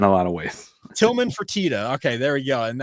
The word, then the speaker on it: Fertitta: Did I pronounce that right? Is it the Fertitta Center or Fertitta? Fertitta.